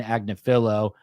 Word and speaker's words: Agnifilo: Yes, the New York attorney is the wife of Diddy's attorney, Agnifilo. I always mispronounce it. So her name is Karen Friedman Karen Friedman Agnifilo.